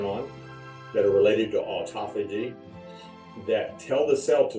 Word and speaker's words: autophagy: This one is autophagy. Not autophagy. Think of it, autophagy.